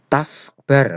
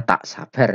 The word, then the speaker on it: taskbar: Taskbar, nah ini ada sedikit revisi, bukan TAKSBAR ya, taskbar. Yang benar adalah, kalau ini bacanya tak sabar nanti. Yang benar adalah TASKBAR.